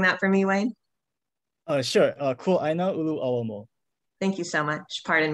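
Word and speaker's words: Kuaʻāina Ulu ʻAuamo: Would you mind pronouncing that for me, Wayne? Kuaina Ulu Awamo.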